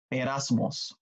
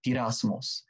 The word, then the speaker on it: peirasmos: And in the Greek, the word temptation is peirasmos or peirasmos. That's P-E-I-R-A-M-O-S or P-I-R-A-M-O-S, A-S-M-O-S. So people may spell it or transliterate it differently.